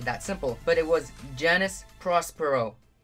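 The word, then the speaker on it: Janus Prospero: So that's how you pronounce it.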